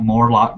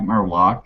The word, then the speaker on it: Morlock: is it there okay it's Mike Morlock not Mike merlock it's p not Pegasus